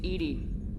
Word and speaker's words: EDI: play in alarm why are you named Edie Ed is the phonetic pronunciation of Eed that is an acronym for enhanced defense intelligence where are you my